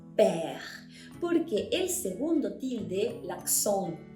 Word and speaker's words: père: Cuando vimos, por ejemplo, la palabra père, ¿okay?, no pronunciamos esa E como E, no dijimos peur, dijimos père, porque el segundo tilde,